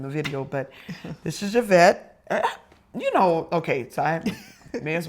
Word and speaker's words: Yvette: But since it's a French, base name, then the Y is pronounced like an E.